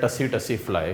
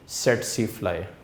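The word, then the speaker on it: tsetse fly: अगर इसको आप ऐसे ही पढ़ें तो ये दूर से लग रहा है टसी टसी फ्लाई, लेकिन क्या है कि टी साइलेंट है तो इसलिए इसको आप क्या बोलोगे? सेटसी फ्लाई।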